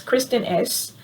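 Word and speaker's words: Kristin Ess: know and s-c-e-n-t-s i've looked into their products kristen s so that's kristin k-r-i-s-t-e-n-s-e wait kristen k-r-i-s-t-e-n e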